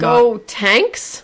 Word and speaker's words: Gotenks: And so they didn't recognize the key because it was Gotenks' key and Gotenks? Gotenks. Can you spell that for me? Gotenks. Like Goten, and then the end of Trunks.